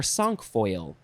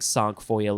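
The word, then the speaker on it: cinquefoil: is sink foil or sunk foil i think song foil is probably more appropriate c c-i-n-q-u-e-f-o-i-l is it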